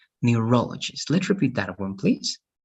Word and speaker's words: neurologist: if it's psychologist right then it's going to be neurologists okay so the stress has to be in this part neurologist let's repeat that one